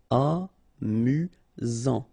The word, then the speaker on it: amusant: Final T not pronounced. You've got only one S here between the vowels, so it's really this Z sound. Amusant.